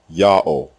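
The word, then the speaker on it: יהוה: like the second letter the fourth letter is also silent it assumes the sound of the previous vowel and closes the terminal syllable God's proper name is therefore pronounced yah pause o full stop Yao any vowel system other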